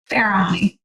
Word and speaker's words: Farahani: Farahani. Farahani, okay. Pretty much how it's spelled.